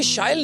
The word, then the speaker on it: Shyle: So as you just said, it rhymes with style।